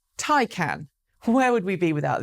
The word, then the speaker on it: Taycan: the industry have been calling it the Porsche Taycan. But apparently, according to Porsche, which released a new video this week teaching everyone how to say the name, it's Taycan.